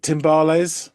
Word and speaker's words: timbales: Is it timbales?